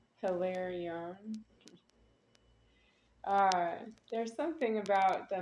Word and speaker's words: Hilarion: Hilarion. Something like that. Do you say the H? Hilarion. Uh, Hilarion. That's what I would say.